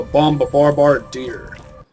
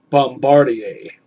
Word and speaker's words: bombardier: from the word bombardier, which is often mispronounced as bombardier. It comes from a French name. It's a French word that comes from a French name, which is why it's pronounced the way it is.